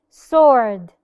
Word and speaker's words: sword: Sword.